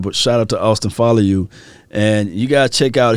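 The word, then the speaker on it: Faoliu: the polynesians out there the people that reached out to me said his name is pronounced follow you good situation for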